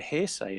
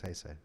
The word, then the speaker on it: Heisei: And it's the end of the hearsay era. Heisei. That's what Heisei. Oh, I asked yeah, him. yeah, yeah. I asked him how to pronounce it. He's like, it's Heisei.